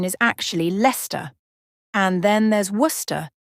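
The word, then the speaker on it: Leicester: very unexpected ways for example the city of leester in England many people might think it's pronounced leest but the correct pronunciation is actually Lester and then there's wer it's not West but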